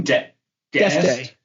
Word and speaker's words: D'Este: D'Este.